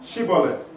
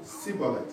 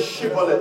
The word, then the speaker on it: Shibboleth: They said to him, say now Shibboleth. Il dit bon, dis Chibolette. And he said, Sibolet. Et il disait Sibolette.